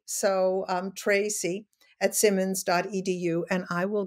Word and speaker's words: Treacy: c y and um it's pronounced tracy but it's e a so um tracy at simmons.edu and i